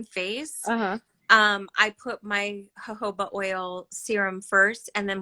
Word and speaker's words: jojoba: then i got like a minute it's not jojoba it's jojoba i was reading how the america they wrote